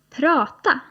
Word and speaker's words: prata: - "Prata". - "Prata". Now both "tala" and "prata" have got two 'a's in them but the second 'a' is a little shorter.